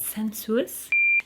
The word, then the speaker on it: Sensuous: we've got centrosis how do you say that sensuous do you also struggle sensuous from Estee Lauder